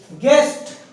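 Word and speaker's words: guest: बीच में यू आया मतलब वहां पर वो साइलेंट हो गया गेस्ट जी यू ई एस टी गेस्ट जी और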